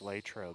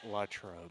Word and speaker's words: Latrobe: said latrobe too it's it's latrobe not not latrobe you know see i've gotten yelled at both pronunciations so very correct see